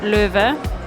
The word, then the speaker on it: Loewe: So normally you would pronounce it LOEWE, which no one does, it's LOEWE, but still, it's a German brand.